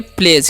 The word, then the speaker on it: pledge: PLEDGE है, तो इसे हम पढ़ेंगे प्लेज। क्या पढ़ेंगे जी? प्लेज पढ़ेंगे, ठीक है। यहाँ पर GE उसका उच्चारण ज होगा, D का उच्चारण नहीं होगा, ठीक है।